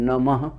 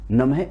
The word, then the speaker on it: नमः: मोक्षदायी कहा गया है, लेकिन कुछ लोग इस मंत्र का उच्चारण अलग तरीके से करते हैं। इसे ओम नमः शिवाय के स्थान पर ओम नमो शिवाय के रूप में करते हैं, किंतु मित्रों इनका अर्थ अलग अलग हो जाता है।